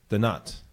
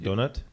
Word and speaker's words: Denat: SD all right we are here with Hugo the nut like doughnut doughnut like a doughnut like it's pronounced like a little bit differently doughnut so